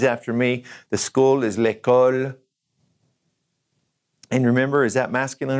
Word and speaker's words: l'école: Let's just pronounce them one more time. Say these after me. The school is l'école.